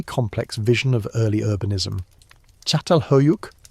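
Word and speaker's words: Çatalhöyük: Chatal Hoyuk, pronounced Chhattal Huyuk, flourishing around 7,500 B.CE.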